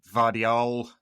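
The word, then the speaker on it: Gvardiol: And they've added Vardial. I think that's how you say it. It's a silent G who is an excellent defender.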